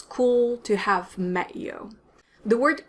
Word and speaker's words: cool: ago it's very common but it's also pronounced with a french accent so it's the same ooh sound as in vu and bonjour and it's the same l sound as in so the back of your tongue is flat now a lot of